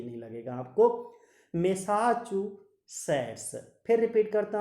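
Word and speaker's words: Massachusetts: फिर रिपीट कर देता हूँ, थोड़ा सा प्रोनाउंसिएशन इसका टफ है बट ध्यान से करोगे तो टफ भी नहीं लगेगा आपको। मैसाचुसेट्स, फिर रिपीट करता हूँ, बोस्टन मैसाचुसेट्स, बोस्टन मैसाचुसेट्स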